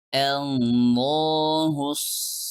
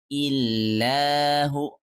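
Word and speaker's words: اللهُ: Qul huwallahu ahad, Allahus samad. Jadi karena kita tidak melanjutkan bacaannya, kita membacanya dengan Allahu, bukan illahu.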